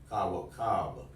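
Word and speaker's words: كوكب: Now you hear the difference? You hear the long C-A-A? Ka. It takes a time to pronounce those A's, doesn't it? So pronounce those. Ra. Raw. Karab. Oh yeah, Karab. You're up there. Okay. Ka. Pronounce that one. Raka. Raka. Kawakab. There you go. See how you shorten the ka?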